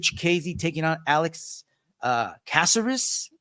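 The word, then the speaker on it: Caceres: taking on Alex uh casserus is how Luke Thomas pronounces it I guess that's how you're supposed to be saying it this was a three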